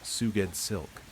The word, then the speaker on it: Sgoueddslk: Sgoueddslk, pronounced Suged Silk.